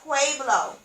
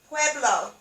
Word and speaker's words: Pueblo: around the family drum pueblo pueblo indians is pronounced pueblo pueblo pueblo let me repeat it pueblo indians that's